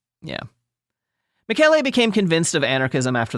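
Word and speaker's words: Michele: Which to me looks like it's spelled Michelle if anyone's curious. Yeah. But it's like the French but it's not. It's Italian. So it's Mikuel.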